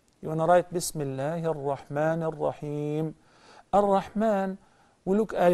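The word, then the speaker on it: الرحمن: There is a little alif on top of the meme that follows the meme, which explains that to prolong the mad, actually it's a mad. So Ar-Rahman.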